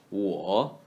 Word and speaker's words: 我: 我 like war without L sound in the third tone.